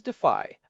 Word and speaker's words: Dify: The project that I think is really winning this space right now and one I know Daniel would appreciate is Defy. That is spelled D I FY.